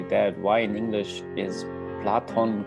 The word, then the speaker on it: Plato: no idea but yes it's platon in in greek and in spanish and in german yeah and in german i think it's it's just the easier the red or said pronounced plato probably like platon is yeah